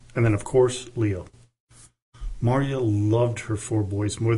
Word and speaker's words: Marya: Now, you may have noticed I've pronounced her name two different ways, Maria and Mariah. they're kind of interchangeable from what I've seen. I've seen, you know, with all the different works I've been reading, and they're quite numerous, they pronounce them and write them differently. So I'm going to try to stay with Marya.